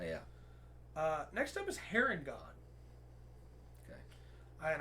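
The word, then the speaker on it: Harengon: uh next up is heron god okay and i checked the pronunciation guide it is hair in god yeah not haringen uh they originated in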